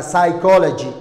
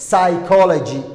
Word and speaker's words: psychology: كو حكستاي بيدا لغمة دواقة يوحين نقونا يسا psychology psychology psychology good وحاك لو جرا بيدو هدي followed